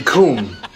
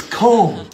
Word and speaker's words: comb: So it would be com. No, it's comb.